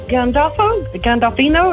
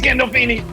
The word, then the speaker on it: Gandolfini: James Gandolfino, is that how you say his name? James Gandolfini.